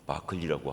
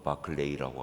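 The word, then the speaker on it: Barclay: 윌리엄 바클리라고 하는, 발음은 바클리라고 하기도 하고 바클레이라고 하기도 하고, 스코틀랜드 출신의 아주 유명한 주석가이기도 하고 설교가이기도 하고 신학자이기도 한 그런 분입니다.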